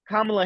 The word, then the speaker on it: Kamala: So like Kamala Harris, she puts the emphasis on the first syllable, Oh, but okay.